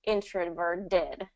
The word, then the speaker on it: introverted: So ER is an R vowel, which means that introverted will be pronounced introverted with the D sound, which is correct.